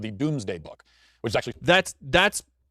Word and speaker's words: Domesday: Spelled Domesday, even though it's pronounced Doomsday. The point of the Doomsday Book was to list